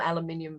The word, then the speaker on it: aluminium: australia the little boats a little aluminium boat aluminum boats depending on which culture you're from as to how that pronunciation goes but um they've turned them